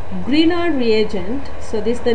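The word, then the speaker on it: Grignard: the spelling like grig nard but it is pronounced as Greener once again Greener reagent okay so these Greener reagents are made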